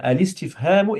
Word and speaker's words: الاستفهام: Là, en fait, le alif, hamzatul al-wasl, on va le prononcer comme si c'était un lemme. Donc ici, on va dire alis, alistif. Tu Ok, laisses. d'accord. Donc, Elistif, Hemou, Très bien. Alistifhamu, écrit l'interrogation.